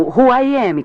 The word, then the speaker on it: WHOAMI: Uma maneira rápida de determinar quem está conectado à rede é digitar o comando WHOAMI na linha de comandos. Este comando é fácil de lembrar, pois é pronunciado como Who I Am, quem sou eu, em inglês.